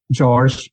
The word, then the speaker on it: Jorge: My name is George. It's actually spelled like Jorge, but I'm originally from Portugal, so we pronounce the J like in English. So it's pronounced George in Portuguese, and it's similar to the English George.